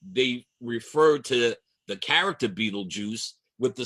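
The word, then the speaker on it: Betelgeuse: So, in the hunter's shoulder, there's a stall called Beetlejuice. It looks like Beetlegeist, but it is pronounced Beetlejuice.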